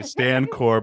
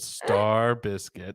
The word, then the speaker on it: Stankorb: It should say Stan Corb, how it's actually spelled, and then underneath it, how to pronounce it, Star Biscuit.